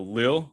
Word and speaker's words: Lille: gotta say french um so lil uh that that's how you actually pronounce it right leo yeah i'm not